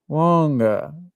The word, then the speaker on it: Lange: His surname is actually pronounced Longa. Okay, interesting. I like Lange better because it Me rhymes too.